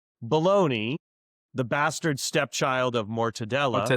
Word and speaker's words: Bologna: They didn't have all the final, the boutique ingredients, became bologna, which is henceforth the town. It's a poor pronunciation of the town where mortadella came from, Bologna.